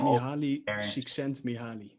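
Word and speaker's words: Mihály Csíkszentmihályi: Mihaly, I cannot pronounce his last name, even though I am Mihaly Csikszentmihalyi.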